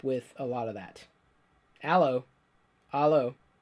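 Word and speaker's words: 'Allo 'Allo!: a lot of that allô allô it's pronounced ello ello ello like hello all oh no really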